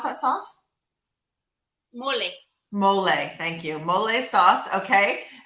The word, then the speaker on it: mole: you said it's called um how do you pronounce that sauce mole thank you mole sauce okay and and what